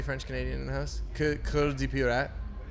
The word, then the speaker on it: Cœur: Yeah, but it's not quite core. It's a Cœur. Cœur. Yeah. Anybody French Canadian in the house? Cœur de Pirate.